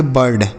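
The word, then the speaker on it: bird: आई के बाद आर है। तो इसका उच्चारण अ के रूप में होगा। मतलब इसे लिखेंगे नहीं केवल अ निकलेगा। आर से र डी से ड। इसे पढ़ेंगे बर्ड।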